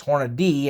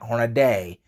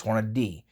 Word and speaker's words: Hornady: That's the proper pronunciation, just like it's Hornady and not Hornaday. There's not an A between the D and the Y. So it's not Hornaday, it's Hornady.